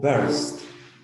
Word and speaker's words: burst: Ahora viene el arquetipo 1, verbo burst. Ahí les coloqué la palabra entre barras, una E, para que ustedes puedan enfocarse que se trata de una pronunciación con E.